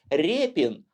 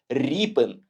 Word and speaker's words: Рєпін: І російською мовою природно читається як репін. А от українською ви не повірите. Ріпен. Порівняйте такі слова, як ріка і ряка, ліс і лес, дід і дед тощо.